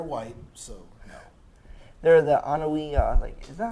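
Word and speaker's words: Anoaʻi: They're the Anawi, is that how it's pronounced?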